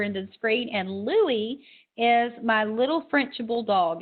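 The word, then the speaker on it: Louis: word this week is Louie Louie is spelled l o u i s Louie and you might say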